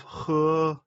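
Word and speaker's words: 呵: and regulate its function the pronunciation of her similar to the English word her the pronunciation is assisted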